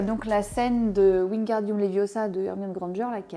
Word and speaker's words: Leviosa: C'est Leviosa et pas Leviosa.